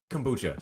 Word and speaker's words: kombucha: Maybe that's where I'm messing up. It's the O sound.